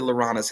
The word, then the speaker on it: LaRahna: they say my name, when my name is pronounced, it sounds like the same word for the frog.